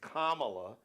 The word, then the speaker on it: Kamala: First of all, it's Kamala. Just think of a comma.